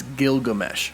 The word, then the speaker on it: Gilgamesh: Next up is Don Lee's Gilgamesh, not to be confused with Gilgamesh, it's Gilgamesh. Some people have been saying that I pronounced that wrong, but nope, it is Gilgamesh, Gilgamesh.